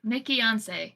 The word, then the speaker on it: Nikkiyonce: YouTube twitch uh same nickon spell it though because it's Weir as a Nancy I k k i y o n c e it's like Beyonce but nickon not Nicki once people say it all